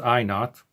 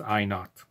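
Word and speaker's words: I₀: is i sub zero it's pronounced i not and the word not zero in the old english i not in old english zero used to be called not written like this in old english so instead of we could call this i sub zero often in physics this is simply pronounced i not and i naught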